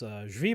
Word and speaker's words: Zvi: There's an entire, there's a book about this, Moral Mazes, Zvi Moroshowitz, Moshevitz, I think.